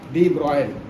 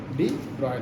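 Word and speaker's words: de Broglie: अब बेटा एक और बच रहा है, डी ब्रॉगली डी ब्रोगली, ब्रोगली है ठीक है लिखा ब्रोगली, लेकिन एक्चुअली इसका जो प्रोनाउंसिएशन होता है डी ब्रॉयल, डी ब्रॉयल होता है।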